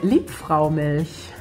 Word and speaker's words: Liebfraumilch: Liebfraumilch.